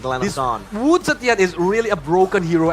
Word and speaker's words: Wu Zetian: Wu Zetian is really a broken hero at MLBB. Oh, you've China. tried? Yeah. Can you pronounce it again? Wu Zetian. Wu Zetian. Wu Zetian. Wu Chetien.